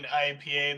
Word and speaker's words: IPA: one of your finest ipas please you see uh you hear it so you hear a voice saying um actually it pronounced IPA and turning around is